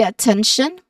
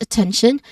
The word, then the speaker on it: attention: Now, you start with a schwa sound, and then second syllable has a short e sound, 10, and then last syllable is tion. What do we remember with tion? It is pronounced as shun, shun. Okay, shun. Again, shun. So this phrase is, I